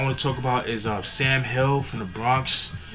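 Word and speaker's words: $am Hill: Next artist I want to talk about is Sam Hill from the Bronx. But it's spelled the $, then A-M Hill, Hill, Sam Hill.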